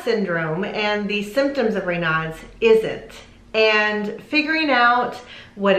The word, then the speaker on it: Raynaud's: and how do you pronounce it so it's pronounced raynaud's you'll sometimes hear people say reynolds in fact i think i said reynolds in